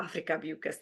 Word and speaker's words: Afrika Beukes: to introduce Don Afrika Beukes to everyone, or Afrika Beukes, let me say it properly.